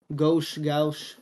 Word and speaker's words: Gauche: Or Gauche. I don't know how to pronounce the name. It's Gauche.